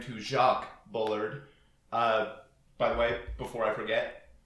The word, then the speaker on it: Bullard: are discussing uh Eugene Bullard uh which I have spent years mispronouncing uh in a very French way so and I've spent